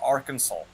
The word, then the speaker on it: Arkansas: state that is spelled all Kansas but they pronounce it Arkansas okay this is coming from a country who